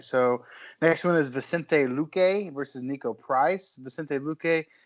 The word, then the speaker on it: Vicente Luque: Vicente Luque.